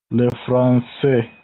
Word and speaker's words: français: Here, this S is pronounced and becomes Z. So we say le français. This S is silent, but here it is pronounced because of the interruption letter E.